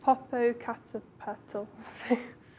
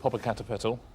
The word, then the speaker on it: Popocatépetl: Popocatépetl. Well, Popocatépetl is it's a volcano in Mexico, and so the Spanish I think would say Popocatépetl.